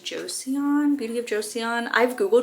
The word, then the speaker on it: Joseon: I use Beauty of, is it pronounced Joseon?